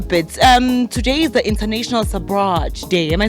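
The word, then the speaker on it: Sabrage: Today is the International Sabraj Day. Am I saying it right? Sabraj Day, yes.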